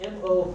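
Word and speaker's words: moʻo: It's M-O with an apostrophe O. M-O. O with an apostrophe, and then O. Yes, pronounced Mo. The Hawaiian language has a lot of these stops between the vowels.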